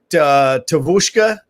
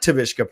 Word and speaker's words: Tavushka: Tavushka Productions or Tushka Productions. The V is silent, is what I was told. The V is actually a U, so it's not Tavishka Productions.